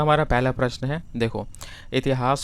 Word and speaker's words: हिंदू: बताओ तो इसका आंसर है ऑप्शन नंबर डी हिंदू दिया गया था। क्योंकि जो ईरानी लोग थे ना वो स के जगह पे ना ह का प्रोनाउंसिएशन करते थे।